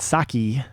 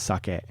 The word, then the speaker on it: sake: character for alcohol sake it's not saki with an i it's sake uh the character for